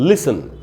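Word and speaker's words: listen: children और इनका 2 उसके बाद है दोस्तों लिसन लिसन तू वर्ड इंग्लिश में एल आई एस टी ए एन तो उसमें 30 साइलेंट होता है कई बार खास करके ब्रिटिश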